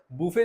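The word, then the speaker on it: buffet: ठीक है नेक्स्ट है बुफे सर्विस बफे सर्विस ये बफेट नहीं होता है इसको बुफे बोलते हैं बुफे की स्पेलिंग िंग ये रहती है।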